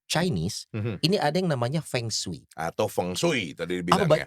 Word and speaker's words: Feng Shui: tanya dulu Feng Shui atau Feng Shui? Feng Shui. Feng Shui. Oh kan saya Batak, Shui. Batak Feng. Boleh. Feng Shui. Feng Shui. Feng Shui. Oh sebenarnya gitu. pengucapannya Feng Shui.